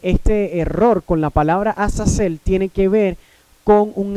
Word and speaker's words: Azazel: del Antiguo Testamento in Leviticus 16:8, which is pronounced Azazel, que se pronuncia en Levíticos 16, capítulo 8,